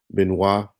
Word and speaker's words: Benoit: there's a guy named dave benoit if y'all spell it it look like it's been light but it's been benoit uh jeff lorber you know white cat uh